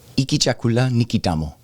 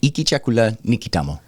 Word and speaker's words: Hiki chakula ni kitamu: is good, And so this is how you say it. You ready? Iki chakula nikitamo. All right. That's how you say that. All right. Iki chakula nikitamo.